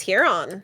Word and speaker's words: Huron: Lake Huron is not Heron? Is it Huron? It's Huron. Oh, it's a U, yeah.